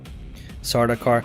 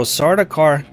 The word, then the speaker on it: Sardaukar: Sardaukar. So Sardaukar, Callie, Sardaukar is renamed. Dang it. It is renamed, but it's phonetically very close to Sardaukar, and the song